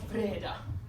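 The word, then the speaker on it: Wrede: My last name is German, so we had to be difficult. It is spelled W-R-E-D-E. Traditionally pronounced Vreda.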